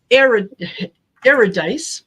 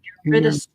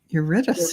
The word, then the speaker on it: Eurydice: Aurora Starcy says, Eridice, which is what I said, is pronounced Eurydice. Eurydice.